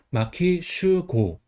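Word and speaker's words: 牧秀悟: 그 다음에 18번은 마키 슈고입니다. 한자는 칠목, 빼어날 수, 깨달을 오해요. 그래서 칠목 같은 경우는 마키라고 읽어요. 그 다음 빼어날 수는 음독으로 슈, 깨달을 오는 고 이렇게 읽어요. 그래서 마키 슈고.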